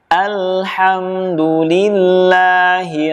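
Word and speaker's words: الحمد لله: Kesalahan yang sering terjadi adalah membacanya seperti ini. Alhamdu lillahi rabbil alamin.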